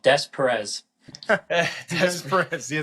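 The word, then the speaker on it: Des Peres: Louis, it's called Des Perez.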